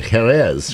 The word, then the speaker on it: Jerez: Inspired by, I'm going to say it right, Jerez, right?